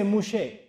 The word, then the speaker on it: Moshe: And they don't say Musa in Hebrew, they say Moshe. So Tawratu Musa, they say Tawrat Moshe. That's how they pronounce it.